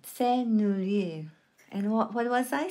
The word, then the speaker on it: Sennelier: That's how you pronounce it. Sennelier. And what was I saying all throughout this video? Sennelier.